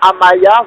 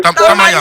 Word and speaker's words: Tamaya: Maintenant, concernant les prédictions, Madame Amaya, vous avez... Tamaya, faites un effort pour prononcer mon nom, monsieur.